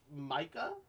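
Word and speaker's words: Mika: man it's pronounced Micah that's how that's how they pronounced it I think I'm gonna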